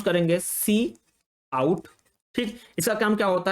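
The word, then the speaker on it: cout: एक चीज है सी आउट इसको हम लोग प्रोनाउंस करेंगे सी आउट ठीक इसका काम क्या होता है इसका जो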